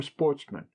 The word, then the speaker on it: sportsmen: good family, who were sportsmen, a French word pronounced with the accent on the men.